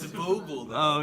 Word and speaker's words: Vogel: That's how you pronounce it. Vogel. Whatever the weird ass. Wasn't that the kid's name in Superbad? Fogel? Gangsters, what's up, guys? No, it's a Vogel.